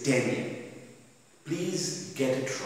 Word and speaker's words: Digne: Today, I will do this particular lesson by the title of The Bishop of Digne, pronounced as The Bishop of Digne in French, spelt as D-I-G-N-E, but pronunciation is Digne.